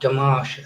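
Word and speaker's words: Dimash: Damash.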